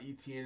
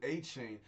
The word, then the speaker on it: Etienne: The E makes the A sound. The T makes the C sound.